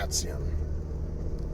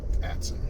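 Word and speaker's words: Atsion: So, now we're on Quaker Bridge, uh, Ation Road. Not sure if that's the correct pronunciation. Atson, I guess. A t S I O N. Atson.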